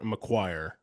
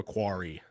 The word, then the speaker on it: McQuarrie: Christopher McQuire or McQuarrie, I believe is how you say his name. yeah, Christopher McQuarrie. Yeah. McQuarrie.